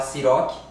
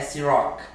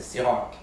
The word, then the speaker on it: Cîroc: Popularmente aqui no Brasil a gente fala Ciroc, que é um nome popular e é um nome mais conhecido, mas a pronúncia correta dela é Ciroc, com o R puxado lá da França, Ciroc.